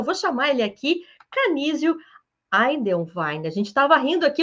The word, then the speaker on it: Eidelwein: É Eidelwein. Poucas Ah, pessoas pronunciam corretamente, né?